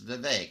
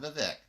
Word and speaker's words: Vivek: in that it's uh it rhymes with cake it's Vivek it's not the Vic so Vivek Rama Swami he's running